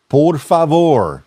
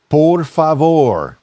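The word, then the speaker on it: por favor: not use it right the correct way to say please in Spanish is poror fa poror fa and the right way to say thank you is gracias gracias I'm sorry and excuse me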